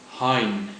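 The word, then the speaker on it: Hein: of my name Hine Hine spelled h e i n said in the same way that you would pronounce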